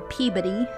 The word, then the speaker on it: Peabody: Also in Salem, the Peabody Essex Museum houses the original court documents, or Peabody, how they say it in Massachusetts, houses the original court